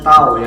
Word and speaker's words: tau: f dibagi dengan a ini bacanya tahu ya = F dibagi ah